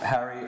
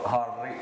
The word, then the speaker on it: Harri: Hi, my name is Harri, or Harri, if you can roll your R's.